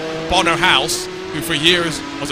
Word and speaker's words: Bono: say your name and he eventually said it's Bono house wow yeah well yes I mean we